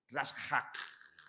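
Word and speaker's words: רצח: Sé que hay letras mudas, os lo voy a deletrear. R-A-S-H-A-J. Rashak. Acaba en J. La pronunciación, ¿vale? Rashak.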